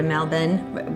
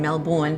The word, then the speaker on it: Melbourne: when we were checking in to go to Melbourne. We keep saying Melbourne, but they pronounce it Melbourne.